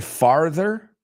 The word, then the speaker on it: farther: Técnicamente farther, con A, farther, pronúncialo conmigo, porque es raro esa TH, ¿no?